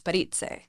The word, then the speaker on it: Parise: Today I have Jenna Parise. Parise. Parise. It's always hard to pronounce that. If you really want to add some gusto, it's Italian, so it's Parise.